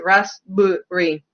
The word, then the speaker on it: raspberry: the sound like good like in the word rasberry there is no berry it's raspberry um so it's going